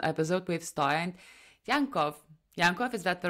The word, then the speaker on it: Yankov: of practical inspirational episode with sty and yanov yanov is that the right way to pronounce St that was really well said yes